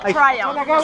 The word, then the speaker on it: Triumph: ¿Cómo se pronuncia? Triumph. Triumph, estoy en lo correcto. Así lo dicen los ingleses.